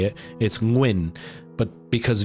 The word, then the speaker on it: Nguyen: It's Nguyen. But because Vietnamese uses the ng sound a lot more than you do in English.